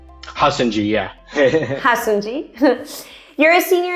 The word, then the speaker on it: Hassonjee: Hassonjee, yeah.